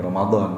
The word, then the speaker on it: Ramadhan: dalam bahasa Indonesia kan nulisnya memang gitu Ramadhan Tapi bacanya kan ya Romadhon pakai doa dan pakai rok tapi karena ditulis seperti